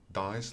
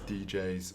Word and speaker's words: Dijs: my name is dice which actually came to a joke for the name of this channel dice is pronounced dice like roll the dice but of course i've